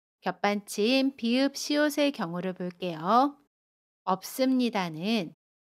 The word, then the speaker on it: 없습니다: 없습니다는 없습니다 라고 발음해요. 겹받침 비읍 시옷 중에 첫 번째 받침 비읍을 발음합니다.